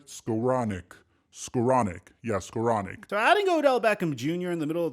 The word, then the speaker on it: Skowronek: Yeah, Skowronek.